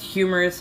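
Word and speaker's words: humerus: humorous is that that that nerve that runs there it's spelled slightly different it just sounds the same as humorous haha it is spelled Hur q no a q r um I am not spelling right now but you know what I mean it's not an O us it's just a us so it sounds like the word it's a homophone why do I remember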